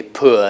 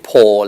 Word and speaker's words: pour: I don't say pour liquid, I say pour liquid.